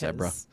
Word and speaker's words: zebra: It's pronounced zebra. Zebra, excuse me. Like Deborah.